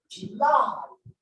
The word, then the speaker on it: July: Then July, the primary stress is on the second syllable. July.